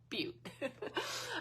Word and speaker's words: butte: Because I was like, is it butt? Is it butte? And Jen was like, it's butte. Okay, Erin, this one's for you.